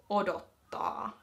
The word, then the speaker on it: odottaa: So the verb to wait in Kirjakieli is odottaa.